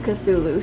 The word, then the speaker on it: Cthulhu: want to spoil it i looked it up and several sources pronounced it cthulhu so i can say that